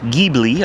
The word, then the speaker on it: Ghibli: It's a 2014 Maserati Ghibli, I think is how they pronounce it.